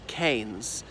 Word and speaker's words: Keynes: by his nephew and he said it is canes and they've been disturbing